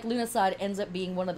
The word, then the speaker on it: Lughnasadh: about the name lunasad it is pronounced a couple different ways um lunasad is what i learned emphasis on the lou or luge at the beginning lunasa is another way that this word is pronounced and of course another